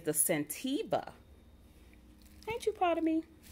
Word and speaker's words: Scentiva: It's the Scentiva.